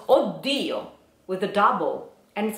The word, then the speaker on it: Oddio: Even because you have to consider that in Italian we have another word that is spelled O, double D, I, O, Oddio, which comes from exactly this sentence, Oddio, but it is another word.